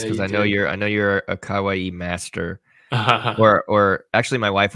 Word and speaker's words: kawaii: I saved the best for last because I know you're a kawaii master.